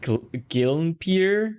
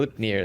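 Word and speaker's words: Gleipnir: Gilnpier or something like that. I can't pronounce. There we go. Glipnir.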